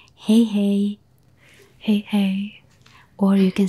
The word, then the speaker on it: hei hei: But when you say goodbye, you say hei hei.